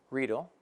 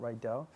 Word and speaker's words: Riedel: By the way, that's how you pronounce it, Riedel, not Riedel.